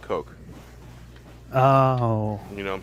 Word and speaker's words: Koch: No, think Koch. Only pronounce it Coke.